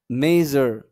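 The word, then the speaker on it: measure: এরকম একটা উচ্চারণ আসবে। আমরা যদি পড়ি তাহলে বুঝতে পারবো। দেখেন, ট্রেজার, ট্রেজার, ট্রেজার। ওকে? তারপরে দেখেন মেজার, মেজার, মেজার।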